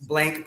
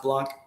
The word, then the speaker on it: Blanc: is michael michael block b-a-b-l-a-n-k uh it's blank but it's pronounced blanc he's got he's got